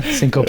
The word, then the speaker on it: syncope: and then sync cope i never knew how to pronounce that word i would say sync cinco yeah yeah syncope yeah it had even